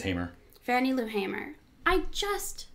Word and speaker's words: Hamer: Unless you think it's pronounced Hammer. I think it's Hamer.